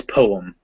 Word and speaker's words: poem: one syllable but poem in standard english it's poem it's like poet but with a m instead of a t at the end and yeah and in